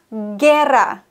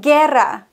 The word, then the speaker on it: guerra: Genauso eben zum Beispiel der Krieg, la guerra, la guerra. Das U wird nicht ausgesprochen, wenn wir die Kombination G-U-I oder G-U-E haben.